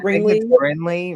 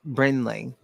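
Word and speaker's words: Brinley: I think it's likey Bley Reese Bley Bley you got to say it like brenley it's a pretty name it's just it's just don't look right brenley brenley brenley brenley yeah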